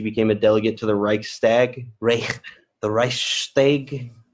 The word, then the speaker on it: Reichstag: 1920, she became a delegate to the Reichstag. The Reichstag? How do you pronounce that one? The Reichstag.